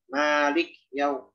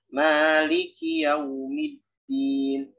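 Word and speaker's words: مالكِ يوم الدين: Kalau kita baca biasa, kadang kafnya disukun. Malik yaum, maliki yaum. Padahal kita udah merasa bacanya kasroh, gitu ya. Jadi contohnya maliki yaumiddin, maliki yaumiddin.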